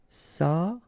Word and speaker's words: s'approcher: S'approcher de, okay, C and H together, sh, and then ER at the end, et, chez. S'approcher.